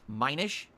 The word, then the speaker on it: Minish: when I was mentioning those did I it's pronounced Minish okay and I'm learning I have no idea